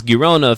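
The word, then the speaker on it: Girona: Garcia of gona I I learned how to pronounce gona through the totally football show there's a Spanish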